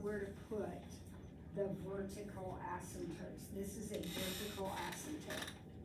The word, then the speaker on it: asymptote: what um what's an asymptote does anybody know asymptote I know what that is by the way the word has a p in it that is silent SM code there's no